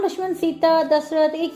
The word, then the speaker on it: दशरथ: कि दे बेटे है दशरथ दे ठीक है इंग्लिश हमेशा अखीर ए लगा द सान प्रोनाउंस ही करना प ठीक है रामा सन ऑफ दशरथा ठीक है आप स्टोरी